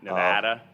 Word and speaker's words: Nevada: it's like a long it's like a long a like the a Nevada all my family would